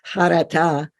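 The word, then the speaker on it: חרטה: Or you could spell it like that, because that's the ch, the chet, charata, which is often translated as regret.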